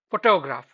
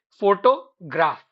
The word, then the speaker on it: photograph: Take the word photograph. The correct stress is on pho, the initial part, but many students say photograph. They inadvertently emphasize on the latter portion.